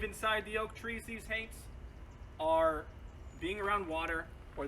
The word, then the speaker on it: haint: one of the things they talked about were hate that is spelled h-a-i-n-t it is a gullah word it